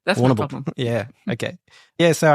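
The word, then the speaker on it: Warrnambool: there like yeah yeah warnable you don't have to pronounce all the letters just let it it's almost one syllable warable problem yeah okay yeah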